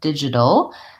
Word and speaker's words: digital: up digital also challenging going right from that flap T into my syllabic l so even though it looks like it could be towel or tall with its own syllable with that vowel we don't really do that a vowel we do if anything a very short little sound did you dull and